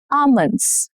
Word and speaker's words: almonds: Almonds. Not almonds. No. Almonds. Almonds.